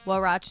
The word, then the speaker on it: huarache: Huarache. What was it? Ra. Che. Huarache. But how is it spelled? Like exactly how it sounds, but with the Spanish alphabet.